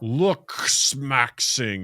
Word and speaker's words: Looksmaxxing: Harder to say than Dungeon Crawler Carl. Looksmaxxing. You just got to slow it down. And say it's spelled with a double X. It is. You can't hear it when Doug says it, but it's there. Yeah. 2 X's. are there? So this comes from an